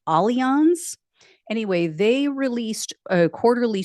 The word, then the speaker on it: Allianz: An insurance company, I'm going to try to get their name right because it's not pronounced the way that it sounds or the way that it's spelled. I believe it's pronounced Allianz.